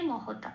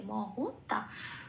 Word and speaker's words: মহতা: আসি পরের শব্দে মহতা। এটাও তাই, ম আর হ পূর্ণরূপ উচ্চারিত হচ্ছে, ম কে ম বলে, হ কে হ বলে বলতে হবে, মহতা।